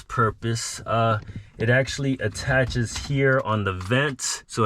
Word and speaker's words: A-Tach: It's actually a play on words. It's actually pronounced attach mount.